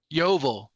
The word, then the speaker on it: Yovel: Yovel. Is how you pronounce it. Jubilee is the way we say today, but in the Bible it'd be called Yovel.